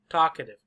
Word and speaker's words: talkative: div div kadiv talkative talkative where's the stress talkative stress loud long talkative talkative number one talkative talkative most important ah talkative talkative talkative you